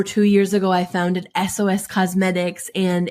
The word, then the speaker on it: Esoes: just um over two years ago I founded SOS cosmetics and it's spelled funny it smelled like my hat e-s-o-e-s